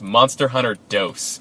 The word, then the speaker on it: Monster Hunter Dos: Till I found out that Monster Hunter 2 is pronounced Monster Hunter Dos.